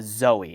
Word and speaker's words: XOE: This is the Hiby digital, I believe it's the Zoe. It's spelled XOE, little IEM that has the TRRS connector on it, but it's not balanced.